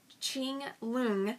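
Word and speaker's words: Qianlong: course uh politically speaking Ching long and that's q-i-a-n-l-o-n-g so Ching lung I worked at uniting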